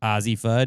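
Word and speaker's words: Azzi Fudd: So that's how that name is pronounced. Azie Fud.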